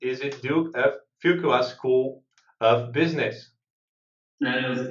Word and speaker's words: Fuqua: Is it Duke of Fuqua School of Business? That was excellent. Yes, the Fuqua School of Business. After JB Fuqua, it sounds like a French name, but he's a gentleman from North Carolina, where the school sits.